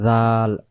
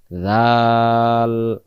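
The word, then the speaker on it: ذ: জাল অক্ষরে জিহ্বার আগা থেকে নরম করে পড়তে হয়। জিহ্বার আগা থেকে আমরা এই অক্ষরটাকে, এই 3টা অক্ষরের নাম 3বার নাম ধরে ডাকবো। জাল, তারপরে জাল, তারপরে জাল। জিহ্বার আগা থেকে উচ্চারণ জাল জের জি।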